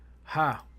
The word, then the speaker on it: ha: Now the next letter we have is the letter ha, which the pronunciation is ha.